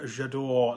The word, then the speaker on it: J'adore: doing mouth words um so yes it's only pronounced it uh j'adore like in the advert i was in house